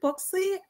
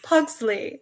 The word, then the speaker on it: Pugsley: And then Hannah was like, it's Pugsley. And I was like, no, it's not. It's not. Yeah, they just kept saying Zlee. And I was like, there's more syllables than that.